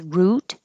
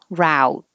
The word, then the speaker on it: route: This word can be spelled the same but pronounced two different ways. First one is root, ooh, root, and the second one is ow, route.